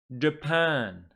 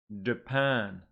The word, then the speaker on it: Japan: me China turkey good here again two syllable words but the stress is on the second syllable please repeat after me Brazil Brazil Japan Japan very good and now